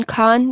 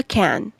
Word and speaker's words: Khan: में कुबला खान को, क्योंकि हम इंडियंस हैं इसलिए हम उसका प्रोनाउंसिएशन खान करते हैं, जो कि ज़्यादा सही प्रोनाउंसिएशन है, लेकिन पोएट जो है वो उसका प्रोनाउंसिएशन ऐसे इमेजिन करते हैं कि कुबला कैन। तो कैन, रैन, मैन ये आपस में राइम करता है और डिक्री और